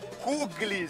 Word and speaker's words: Kugelis: Kuglis, se escreve assim, Kugelis, mas ela falou que é Kuglis.